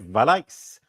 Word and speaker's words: Vallaeys: I'm here with Frederick valik from Belgium who's actually in America welcome Frederick thank you Jason I mean that was an amazing pronunciation of the the original way my last name is said Thank You brilliant a